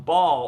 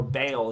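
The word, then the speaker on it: Baal: religious knowledge but um ball or bale as it sometimes pronounced is a was a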